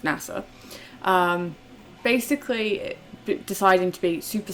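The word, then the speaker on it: 星空: young boy called NASA kanji written as Starry Sky but pronounced NASA basically deciding to be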